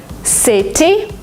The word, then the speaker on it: city: City, you don't say it. City, city. City? It's like DNR, city.